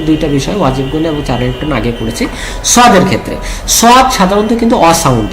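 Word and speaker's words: صٓ: দিতে হয় তাই না তাহলে সদ উচ্চারণ সময় আমাদের বলতে হবে সদ তাহলে সদ সাউন্ড হবে সদতে চার আলিফ টান হবে এবং সদের শেষে একটা ডাল সাকিনের উচ্চারণ আসার কারণে একটা ধাক্কা হবে কেমন দেখি আমার সাথে প্র্যাকটিস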